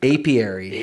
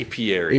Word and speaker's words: apiary: Apiary. Apiary.